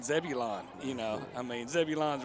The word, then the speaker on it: Zebulon: you know i mean zebulon's right next to the oz right yeah yeah that's all right i can tell you one thing and it's pronounced zebulun no zebulon it's debbie lyon down there